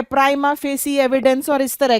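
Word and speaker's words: prima facie: अच्छा, ये जो है प्राइमा फेस, इसका यहां पर स्पेलिंग मिस्टेक है, दिस इज द आंसर।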